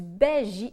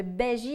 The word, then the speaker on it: bhaji: festin indien je vous conseille d'accompagner ça du Baji indien le Béji indien ça s'écrit bhaji ça se trouve facilement sur Internet